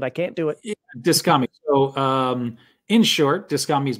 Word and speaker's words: Dyskami: And I know I'm pronouncing it because you actually said before the emphasis is supposed to be on the dis, but I can't do it. Yeah, Dyskami.